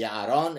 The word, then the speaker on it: Yaron: I'm pronouncing it in the English way. Would it be Yaron if it were in Hebrew, or how would you do it? Yaron. Yaron, okay.